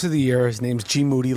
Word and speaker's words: GMoneti: His name's GMoneti. Last name rhymes with duty.